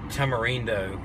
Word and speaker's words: tamarindo: Tamarindo, I believe, is how you would pronounce that in Spanish.